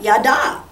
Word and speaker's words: yada: Because you got your accent on the last part. Yada.